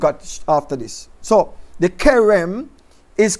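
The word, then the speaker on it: cherem: Pronounced Kerem. The C-H, pronounced like a K. Just like it's a character. Character, C-H-A, K. Same way, Kerem.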